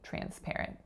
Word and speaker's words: transparent: So transparent has 3 syllables. That first syllable is tran, tran. So notice that the TR letters are combining as tr, tr. It's as if it were spelled CHR, not TR, because of assimilation.